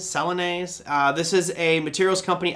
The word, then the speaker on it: Celanese: space uh next we've got ce i always mispronounce this one celani's celanese this is a materials company out of texas